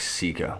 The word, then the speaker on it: sika: call them but it's it is sika it's spelled more like sika but i like sikka it makes it just